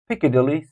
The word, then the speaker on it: Piccadilly: think Cathedral number five Piccadilly Circus Piccadilly Piccadilly Circus first syllables number six Leicester Square